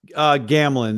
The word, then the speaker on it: Gamelin: Gamelin. The E is silent. Gamelin.